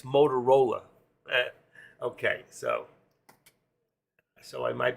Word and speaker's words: Motorola: old company yes and not motor roll it's Motorola Okay so so I